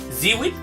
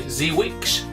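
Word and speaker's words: Żywiec: Here's the one that's really easy to pronounce. Zeewijk. So Zeewijk. Z-Y-W-I-E-C. I'll accept anything that you've got anywhere close to that.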